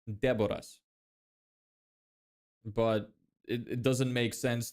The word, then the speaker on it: Deboras: So, the way you pronounce it with an English pronunciation is Deborahs, but my name in my language is pronounced Deborahs.